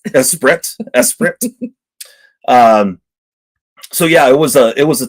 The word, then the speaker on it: Esprit: It's pronounced Esprit. Esprit.